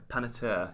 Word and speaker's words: Panettiere: first name, and then it sounds French, but it's Panettiere.